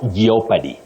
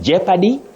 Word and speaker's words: jeopardy: lot geop yes anyway the O in those words is Silent not pronounced so you simply say Jeopardy and jeopardize Tony the of you